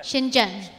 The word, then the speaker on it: Shenzhen: Shenzhen. The pronunciation is Shenzhen, not Shenzhen. Shenzhen.